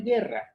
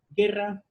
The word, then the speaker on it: guerra: la misma forma pero una guerra guerra se pronuncia en guerra la u no no se pronuncia y otro ejemplo guitarra